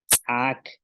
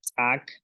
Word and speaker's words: ts'aak: grasa, selek, pierna, y tenemos palabras con tsa, es decir, con la glotal, tsaak, medicina, selek, pierna. Ok, ok, aquí son, bueno, solo tenemos una palabra con tsa, tsaak, y estas son palabras con tsa, selek, pierna, tsimi, caballo.